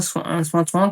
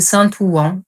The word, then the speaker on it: Saint-Ouen: J'ai pas son numéro, mais à l'époque, il habitait bien à Saint-Ouen. Comment j'ai cherché, évidemment, via son nom de famille. On prononçait Saint-Ouen, mais c'était Saint-Ouen. C'est comme ça qu'on prononce.